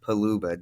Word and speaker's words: Paluba: Talent we're featuring paluba did I say your name right yes you said it right all right pretty good